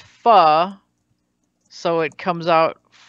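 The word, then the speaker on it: phở: looks like Fokine great but the soup is pronounced pho so it comes out great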